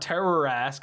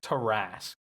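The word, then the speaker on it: Tarrasque: hate myself for it it is not terror mask I don't know why that was in my brain uh it's tarasque e-a-r-r-a-s-q-u-e Terrace my bad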